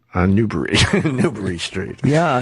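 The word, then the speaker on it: Newbury: on new newb so she he was on Newber Street was he recording them in walking or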